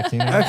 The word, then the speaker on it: Aquino: They like Aquino. Is that how you say it? Yeah, Aquino.